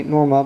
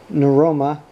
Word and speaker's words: Norma: addressing my wife he did not say norma but something between neuroma and droma he poked up the